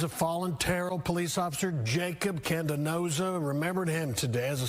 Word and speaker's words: Jacob Candanoza: It's Officer Jacob Candenoza, JACOB CANDANOZA. Can you pronounce that one more time? Officer Jacob Candenoza.